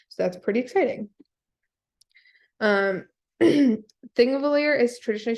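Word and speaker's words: Þingvellir: that's pretty exciting um thing of a lawyer is traditionally spelled ping valir um that thing that looks like a p is pronounced with a th so that's how we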